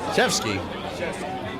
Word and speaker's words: Janaszewski: I believe it's Yaniskevich, but I don't think I've said it right that often. Yaniskevich? Shevsky.